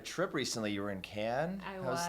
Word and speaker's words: Cannes: recently you were in Cannes I was like so you pronounced it I thought it was Kane's not surprised how was